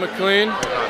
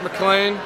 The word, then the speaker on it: McLean: to me the entire game I called him MacLean it's pronounced MacLean anyway we're climbing with DC today it's going